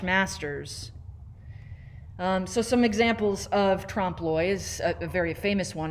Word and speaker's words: trompe l'oeil: So the whole premise of this is actually what's called trompe l'oeil. And that's how you pronounce that weirdly spelled word there, trompe l'oeil. It's a French term.